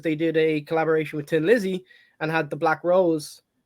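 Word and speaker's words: Thin Lizzy: else no no no Tin Lizzy that's how you pronounce it big tick Dublin accent um so now I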